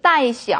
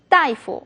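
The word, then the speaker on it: 大夫: 일반적으로 따 이렇게 쓰이지만 의사를 말할 때는 따이라고 발음이 되죠. 하지만 어떤 학생들은 따시에서도 따이시 이렇게 발음하는 학생들이 많은데요. 그렇게는 틀린 발음이고요. 다이프 이렇게 발음이 됩니다.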